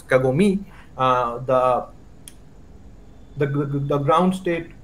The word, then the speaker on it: kagome: so say for example in kagome i'm pronouncing it wrong it's kagome the the the ground